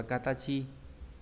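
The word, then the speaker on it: 形: Âm cương đọc là katachi.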